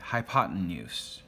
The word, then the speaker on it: hypotenuse: The other side over here is the hypotenuse.